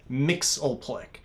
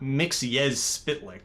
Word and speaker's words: Mxyzptlk: By the way, it is pronounced Mxyzptlk, not Mxyzptlk. That's just ridiculous.